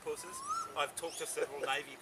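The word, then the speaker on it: Pusser's: this amazing bottle of puss's rum it is actually it has actually pronounced purses i've talked to several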